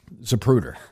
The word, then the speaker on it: Zapruder: It's clearer than the Zaprooer film. Zapruder.